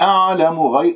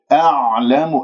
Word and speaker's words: أعلم: أعلم، العين ساكنة، تتجلى صفات في الحروف الساكنة، العين عميقة، والعين من وسط الحلق، تخطأ إذا أنت ما أخرجتها من مخرجها، فممكن أنه تقلقلها من الخطأ الشائع، تقول أعلم أو أعلم، هكذا أنت تكون مرتاح وهي ما وصلت إلى وسط الحلق، بل أنت أخرجتها من أدنى الحلق، فيجب أن تحس بانزعاج في المخرج وأنه كم عم تبلع شيء.